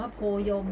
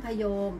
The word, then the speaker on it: โพยม: อาญา กับ กู แล้ว ไป ออก เสียง ว่า โพล ยม อย่าง เงี้ย ผิด นะ คะ ต้อง โพยม แปล ว่า ท้อง ฟ้า